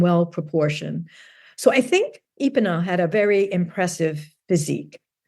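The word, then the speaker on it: Epenow: I'm not really sure how to pronounce it. It's Epinow.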